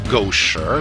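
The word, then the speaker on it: 狗食: For one thing, it has tones, so that ma, and ma are all different words. And gosher means dog food, but gosher means dog excrement.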